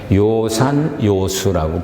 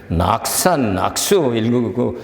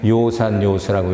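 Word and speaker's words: 樂山樂水: 해서 그것은 빼낼 때 요산요수라고 불러요 요산요수 근데 써놓은 걸 보면 낙산낙서라 그래요 그래서이 중국 그 문헌을 모르는 사람들은 낙산악수 잘 읽지 하면은 틀리는 거예요 거기서는 요산 요소라고 읽어야 돼요 같은 글자예요 연설한다는 연설을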